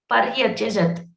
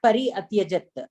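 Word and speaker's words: पर्यत्यजत्: what is happening, but when you are pronouncing the Pari plus Atyajat, correct? Pari plus Atyajat is correct, but what will happen after you combine the two words? Paryatyajat. No, not Pari Atyajat.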